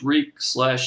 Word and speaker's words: Reek: I mean, all this time he was just, no, I'm Reek. It rhymes with sleek or bleak or, whatever word he came up with that rhymed.